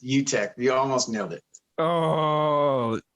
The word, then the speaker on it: Uttech: You almost nailed pronunciation that time. What's that? It's Uttech.